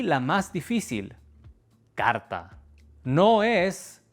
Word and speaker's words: carta: La última palabra y la más difícil: carta. No es carta ni carta. Esta r que va antes de una t es una de las más difíciles para los estudiantes. Es una r simple como en pero.